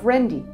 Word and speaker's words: Qrendi: The Q in Qrendi is silent, pronounce as Rendi The Mnajdra temple complex is located on the southern cliffs of the island of Malta near the town of Qrendi.